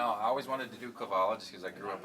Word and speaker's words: Cavallo: How do I pronounce the last name? Cavallo. It's Italian.